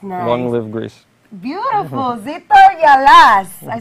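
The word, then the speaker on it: Ζήτω η Ελλάς: Greek culture zto Yas that's what we say zitto Yas yes nice nice long live Greece beautiful zor Yas I said it right yes all right I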